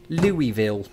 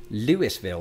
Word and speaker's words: Louisville: ohio river was a curious city of whose pronunciation i had been heartbreakingly assured louisville now while locals might well give me props for stopping short of lewisville they might as youtube commenters have in the